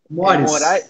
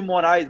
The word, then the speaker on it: Mores: Arthur, primeira coisa, cara, como é que pronuncia o teu sobrenome, velho? Mores. É Mores? Mores. Tá, eu cansei de te chamar de Moraes, mas agora eu olhei aqui Arthur Mores, velho.